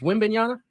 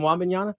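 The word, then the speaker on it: Wembanyama: completely butchered that I he was is wiim bana yeah and I and I called and I called him Wan bana yeah that's not bad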